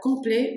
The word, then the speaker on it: complet: masculin complet c'est ça complet vous prononcez pas le T parce qu'il y a pas de e après le T hein allez-y très bien